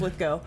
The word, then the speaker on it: Lithgow: And that's why I remember it rhymes with Arsenio. It's Lithgow.